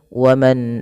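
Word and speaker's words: وَمَنْ: Ini kami salam memberikan tandanya yaitu kita namakan di sini hukum tajwidnya berupa bacaan izhar halqi. Yaitu dengan memperjelas bacaan suara nunnya diperjelas dengan baik.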